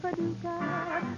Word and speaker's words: Paducah: If you want to, you can rhyme it with bazooka. But you can't poo Paducah.